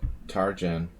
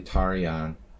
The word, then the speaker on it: Tarjan: the united states jim tarjan and his whole life you know everyone pronounced it tarjan he calls himself james tarjan but it's it's an old hungarian name it's actually tarian eliash there's this one